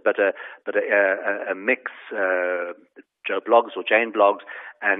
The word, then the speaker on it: Mx: this trend happening um so MX pronounced mix um is going to